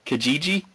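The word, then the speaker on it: Kijiji: I say it wrong it's k i j i ji Kajiji yeah that's so weird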